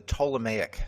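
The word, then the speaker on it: Ptolemaic: So the prevailing idea until capernicus showed up was the tomic system. Tomic has that silent p in front of it.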